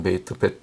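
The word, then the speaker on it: בית: 베트 베이트 베트 어떨 때 제가 베이트라고 발음했더니 어떤 사람이 밑에 댓글 되고 틀렸다고 그러는데 어 베이트도 맞는 것입니다. 베트 보통 베트라고 발음하는데 베이트라고 해도 틀린 건 아니에요. 그렇게 발음할 때도 있습니다.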